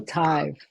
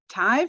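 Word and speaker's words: תו: Solo tav. Tive or tav? Tav. Tav, exactly. Tav.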